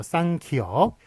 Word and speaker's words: 쌍기역: 그래서 쌍기역, 쌍디귿, 쌍비읍, 쌍시옷, 쌍지읒 이런 식으로 하는데 예, 그래서 이제 끼역이라고 그렇게 읽으면 안 되는 거죠. 쌍을 붙여가지고 쌍기역이라고 읽어야지 끼역이라고 그렇게 읽으면 안 되겠습니다.